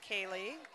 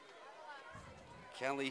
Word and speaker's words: Kaylee: her fans calling her Callie. It looks like it should be pronounced Kaylee. So better go with the home. We'll do it. With the crowd. Callie wins. Callie Heen, just a freshman.